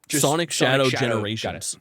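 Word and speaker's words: Sonic X Shadow Generations: Uh, I've been told you don't pronounce it. Sonic Shadow Generations.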